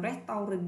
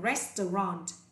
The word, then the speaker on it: restaurant: Nhớ cái từ này, rất nhiều bạn đọc từ là restaurant thì bạn nào bị nhắc lại cho cô nhé. Từ này là restaurant. Restaurant, không phải restaurant.